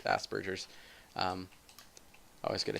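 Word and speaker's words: Asperger's: it's called Aspergers um a lot of people mispronounce it as Asbergers when they first see how it's spelled but it's it's like French or something like that and it's not Asbergers it's Aspergers um I always get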